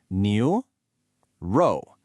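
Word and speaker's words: 牛肉: Now, pronouncing neoro brings up two common issues. First, the tones. It's a rising second tone on neo and then a falling fourth tone on row. New row.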